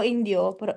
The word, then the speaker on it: Indio: performance allo stage coach che è questo festival che si tiene a oraggimi la pronuncia Ale Indio California comunque calcolando che là è ispanico, indiò sarebbe giusto.